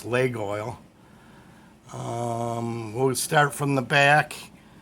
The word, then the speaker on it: Laguiole: That's how it's pronounced, I guess, Laguiole.